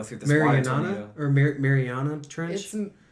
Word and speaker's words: Mariana Trench: trench or like the Marina Trench, I guess. And then like they go through this water tornado. Or Mariana Trench. Right? He said it right. You're Marina? No, it's the Mariana Trench.